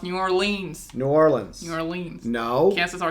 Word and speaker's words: New Orleans: So, like, the second season was focused on New Orleans restaurants and also some Texas You restaurants. said it wrong. It's New Orleans.